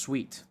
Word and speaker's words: suite: I think it's pronounced sweet.